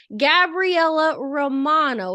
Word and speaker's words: Gabriella Romano: all right well today we have with us Gabriella Romano is am I pronouncing that right yes so we have with